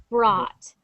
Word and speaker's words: brought: for anyone watching so it has a u but we do not pronounce this sound when we say it so we don't say bro we say brought it sounds just like